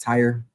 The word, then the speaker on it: Tyre: The word is pronounced Tyre, right?